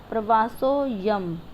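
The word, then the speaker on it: प्रवासोऽयम्: ये जो एस है इसको हम अवग्रह बोलते हैं और इसका उच्चारण कैसे होएगा? प्रवासो यम, अयम नहीं होगा, अ साइलेंट है, प्रवासो यम।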